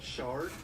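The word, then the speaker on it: Schardt: Apparently he pronounced Shart like shard, I think. So I've been messing that up for the whole trial.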